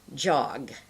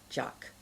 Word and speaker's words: jog: run out of air if I'm saying the word jog let's say you might end up saying jock you see that so it's really the wrong sound that you're making because you're not giving enough air